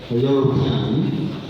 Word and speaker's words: European: So this is a letter, but how we pronounce this word is that it begins with ye, European.